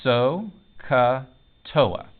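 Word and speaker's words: SOHCAHTOA: what they are by this mnemonic device it's pronounced so katoa now some teachers will tell you a sappy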